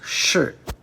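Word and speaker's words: 士: The radical is pronounced shi, and not to be confused with the tu or dirt radical.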